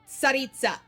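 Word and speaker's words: Tsaritsa: Sarita. You have to subtly say the T. SARITA. IT'S A RUSSIAN WORD. SAY IT RIGHT.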